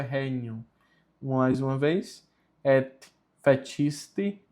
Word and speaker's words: regnum: Mais uma vez o G com N tem som de NH, por isso é regnum.